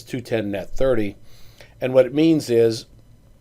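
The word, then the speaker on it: 2/10, n/30: That's pronounced as 210 net 30.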